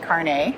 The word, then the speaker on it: carnet: into cameras microphones so it's not pronounced carnet like a lot of people know not like a hairnet know it's it's carne